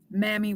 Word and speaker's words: Mami Wata: Mommy Wata, when you hear old videos of Mama Zagbe talk about Mammy Watab, she pronounces it mammy. I have also heard it mommy. In the books, it doesn't show the actual pronunciation, which is why I am I'm pronouncing it the way that Mama Zagbe did.